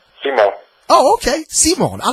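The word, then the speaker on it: Simón: Well, actually, it would be pronounced Simon.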